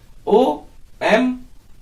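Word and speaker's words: homme: उसको हम फ्रेंच में ओम बोलते हैं हा साइलेंट है ओम एक बात और है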